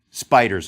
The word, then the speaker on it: SPDR: pores 500 depositary receipt these spdrs pronounced spiders of course appeared in